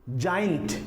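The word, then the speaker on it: giant: जाइंट का मतलब राक्षस इसमें भी जी के बाद आई आता है तो यहां पर भी जी को ज ही पढ़ा जाएगा जियोलॉजी जियोलॉजी जिसको हम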